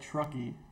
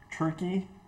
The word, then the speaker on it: Truckee: I pronounce that Truckee. Turkey? I would say Truckee?